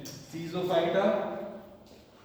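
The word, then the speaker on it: Schizophyta: हाँ इसी की हेडिंग वानस्पतिक वर्गीकरण के अंदर आपकी तीन है, सीजोफाइटा सीजोफाइटा एस साइलेंट होता है, सीजोफाइटा इतना लिखिए सब।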